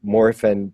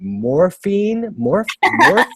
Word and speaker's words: Morphin: They just said it's called Mighty Morphin Power Rangers. And I remember going, morphine? How do you say morphin? Morphin.